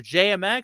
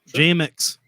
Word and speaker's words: JMX: so real quick question jmx your name rhymes with bmx is bmx reaper your